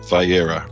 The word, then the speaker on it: Vayeira: And this week, so now, Nehemiah, how do I pronounce this? Is it Vayeira? Vayeira, right.